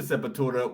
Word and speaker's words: Sepultura: who got me into Sepultura was Brazilian himself. Yeah, of course. So I pronounce it that way. the real way, yeah, Sepultura. Yeah, they're just awesome, dude.